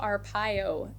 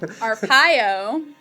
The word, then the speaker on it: Arpaio: In Arizona, we sat with Sheriff Joe Arpaio, America's toughest, right?